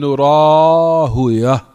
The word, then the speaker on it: Rahawayh: And like I said, I heard from Fadilat al-Walid, Shu'ubayd ibn Sulaiman al-Jabiri, that he mentioned and pronounce Ibn Rahawayh, Ibn Rahuyah. That you can pronounce it also that way.